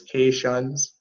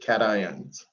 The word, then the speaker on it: cation: the positive electrolytes are referred to as k suns or as i sometimes pronounce it cations that's your positive the